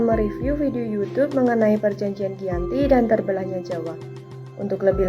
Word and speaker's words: Giyanti: Dalam pelafalan Belanda, ia tersebut sebagai Iyanti, dan secara tertulis, ia terbaca sebagai Giyanti. Tempat tersebut sekarang dikenal sebagai Dukuh Kerten, Jatiharjo, Karanganyar, Jawa Tengah. Perjanjian Giyanti sendiri dibuat dalam rangka